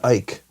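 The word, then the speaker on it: Icke: David Ike. Yeah, it's like David Icky, I think is what it is.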